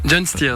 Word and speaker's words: Gjon's Tears: Le 14 mai prochain, lors de la demi-finale à Rotterdam, en Hollande, ce sera le fribourgeois John Stiers, c'est juste comme je prononce ? John Stiers, ouais.